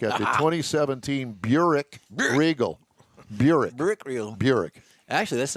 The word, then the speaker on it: Buick: Buick Regal. Actually, that's not very far off on the original pronunciation.